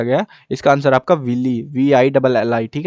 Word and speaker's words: villi: इसका आंसर आपका विली, VILLI, ठीक है ना, ये स्पेलिंग यहाँ पे भरनी है आपको, और इसको हम विली कहते हैं।